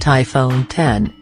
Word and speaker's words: iPhone X: iPhone X REVIEW: Apple Price is the BIG problem despite great smartphone screen and camera Apple’s all-new iPhone X (it’s actually pronounced iPhone 10) is here and it’s the greatest smartphone the US tech giant has ever made.